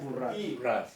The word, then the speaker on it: Borràs: Te estás refiriendo a la Borràs. Se pronuncia Borràs.